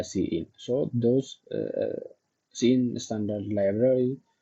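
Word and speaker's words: cin: to use what CE so pronounce it as what uh see in so those scene standard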